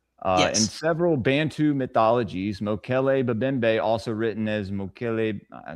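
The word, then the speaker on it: Mokele-mbembe: And have y'all ever heard of Mokle Mimbe from the Congo? Spell it for me.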